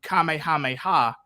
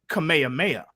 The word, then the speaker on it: Kamehameha: um and gen xers we said it Kamehameha before we heard it in Japanese which is the the the correct way to say it and Kamehameha is actually